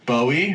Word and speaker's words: Boey: Today's guest, I have my good friend Boey from all the way from Kuala Lumpur.